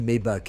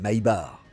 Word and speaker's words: Maybach: Je l'ai dit d'un peu toutes les manières dans la vidéo, mais si tu dis Maybac à l'américaine, attends-toi à énerver quelques ingénieurs allemands. La vraie prononciation, c'est My Bar.